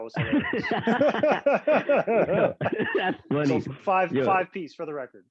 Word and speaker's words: 5piece: It is 5 piece. 5 piece is the way. Although I have gotten some interesting twists on that. Somebody called me Spice once.